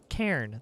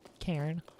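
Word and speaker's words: cairn: huts Little Rock K Karen that's what it is like a c a i r n I think Karen I think that's how it's pronounced I don't really know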